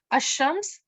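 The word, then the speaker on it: الشمس: Al-qamar means the moon, and you can see when you hear al-qamar, you can hear the lam. Ash-shams, as you can hear that I'm not pronouncing the lam.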